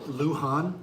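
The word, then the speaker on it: Luján: On on day five, tell me how you pronounce this again. Lan Luhan. Luhan.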